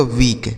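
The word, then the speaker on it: week: डब्लू ई ए के, डब्लू से हो गया दोस्तों वाह, इस ई और ए का उच्चारण बड़ी की मात्रा के से क, इसे पढ़ा जाएगा वीक।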